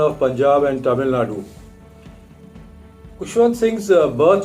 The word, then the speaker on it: Khushwant: He then chose Khushwant so that it rhymes with his elder brother's name Bhagwant.